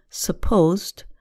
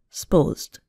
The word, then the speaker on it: supposed: Here, a two-syllable word, supposed, becomes more like one syllable, supposed.